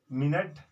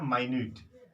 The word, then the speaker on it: minute: जैसे MINUTE, MINUTE spelling same है, इसका जब प्रोनाउंसिएशन करेंगे तो मिनट और यह है माइन्यूट, माइन्यूट। मिनट मतलब समय की इकाई है, और माइन्यूट सूक्ष्म को कहते हैं।